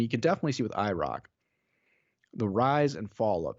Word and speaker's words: IROC: to mention is that it's not iroc it's the iraq we've been saying it wrong this whole time and ken squire always says it properly welcome back to the